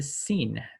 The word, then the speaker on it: sin: Okay, so we have the sin, pronounced like an S, asa.